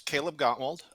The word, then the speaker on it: Kaleb Gottwald: My name's Kaleb Gottwald.